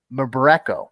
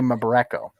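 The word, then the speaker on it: Mbereko: remember mabarenko member echo i can't pronounce his last name it's m-b-e-r-e-k-o m-borreco i'm gonna say my boreko he is a goaltender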